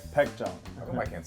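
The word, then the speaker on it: Baekjeong: How do you pronounce this name? Baekjong.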